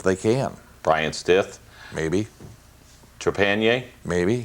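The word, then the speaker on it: Trepagnier: Trepanier? Maybe. Did I pronounce that correct? Trepanier, yeah.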